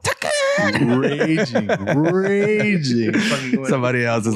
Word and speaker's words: Tekken: Somebody's probably typing away like, that's not how you pronounce that shit. It's called Tekken.